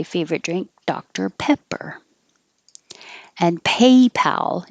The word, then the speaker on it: PayPal: drink dr pepper and paypal is the same a in paper but the pal you need to keep your lips back pat and open a lot if you don't it'll